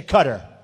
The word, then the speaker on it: Qatar: the airport in Qatar which they say cutter I've always said guitar so what the hell